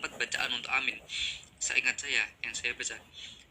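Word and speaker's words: آمين: untuk syair maupun selainnya, yaitu memanjangkan alifnya dan tidak mentasydid mim. Berarti bacanya adalah amin. Yang bacaan kedua yaitu membaca pendek alifnya, yaitu amin.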